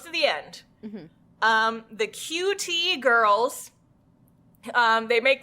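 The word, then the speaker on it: 9tie: and then t-i-e but because it's Japanese it's pronounced q-t um oh that's adorable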